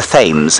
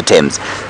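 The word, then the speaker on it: Thames: suppose it must be the fames hey it's not pronounced like that is it Brian no the temps I imagine it must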